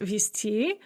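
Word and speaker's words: везти: And note with vizti, which of course is pronounced visti, the z is pronounced as sa in the masculine form because it is at the end of the word.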